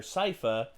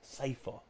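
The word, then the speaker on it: Sypha: this they call her sifa probably because that's more close to the japanese pronunciation of it i don't know huh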